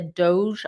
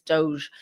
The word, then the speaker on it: DOGE: to that than the Doge I hope I'm saying it right it's not dog right it's Doge uh instead it's not